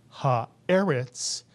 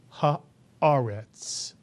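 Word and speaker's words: הָאָרֶץ: And therefore, we pronounce this word not ha-eretz, but ha-aretz. Mitsuyan, ha-aretz.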